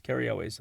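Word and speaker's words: Cary Elwes: who's played by Carri kri lus K elways Carri elways I always mispronounce his name elways from Princess Bride Fame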